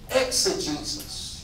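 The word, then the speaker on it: exegesis: it's it's it's ex a Jesus let me spell it for you e ex e g e s i s ex Jesus mhm this is a word that I first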